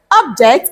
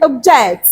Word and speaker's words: object: eight example we have object and object object objects and objects let's say this after me everyone objects okay object that's great so